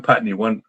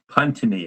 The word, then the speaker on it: Puntney: This is from John Putney, Puntney. I always say Putney for some reason. I read it as John. I read you as Putney, even though I know that's not how you pronounce it.